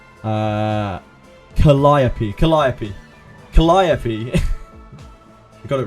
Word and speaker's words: Calliope: Calliope, right? Calliope. I'll have to look it up again. Pronunciation. Calliope.